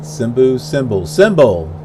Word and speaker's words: Simbel: 230 miles away from Abu Simba, or Simbu, or whatever that is. What is it? Simbel. Like cymbals, like on a drum set, except it's not spelled the same way.